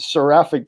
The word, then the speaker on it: Seraphic: Zach founded Seraphic. Did I pronounce that right?